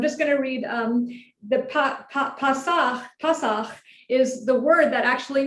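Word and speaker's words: פסח: I'm not doing the vowels, but that would be pronounced more like Pasach.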